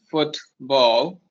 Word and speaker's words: football: Instead of saying football, we're gonna say football.